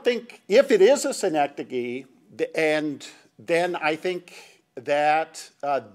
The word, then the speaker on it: synecdoche: Thank you, Jack, for teaching me how to pronounce that. City in New York. Yeah, synecdoche, New York.